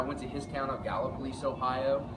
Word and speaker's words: Gallipolis: Then I went to his town of Gallipolis, Ohio. Gallipolis. It's not pronounced any way else. As far as I know, it's Gallipolis, Ohio.